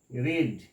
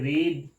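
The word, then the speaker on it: read: আর ই এ ডি কিন্তু এর pronunciation বা উচ্চারণ হবে রিড এই দুটো হবে রেড রেড রেড আর ই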